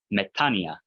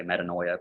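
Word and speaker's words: μετάνοια: And then that Omicron Iota combination, it doesn't sound like oi in this pronunciation system. Anyone remember that diphthong? Yeah, so metania. Accent on that second syllable. So a lot of people, if you're in an academic setting, a lot of people say metanoia because that's literally transliterated. That's kind of what it looks like.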